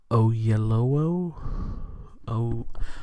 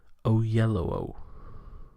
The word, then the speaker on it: Oyelowo: David Oyelowo. I'm so sorry if I've mispronounced this. I am going to look up how to say it. Oyelowo. Yeah. Oyelowo.